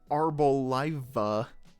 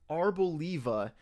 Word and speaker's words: Arboliva: Arboliva. Okay. Yeah, that makes sense. Because I'm thinking of like olive and trying to work that into the name. Like Arboliva.